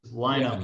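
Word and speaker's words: Linam: pronounce your name correctly it's i know it's spelled l-i-n-a-m yeah it's line-up like line them up i like line them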